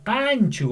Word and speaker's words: kanchu: Entonces, kanchu waireikiwan rimanki. Kanchu. O sea, la mayor fuerza de voz en kan, ¿no? Así.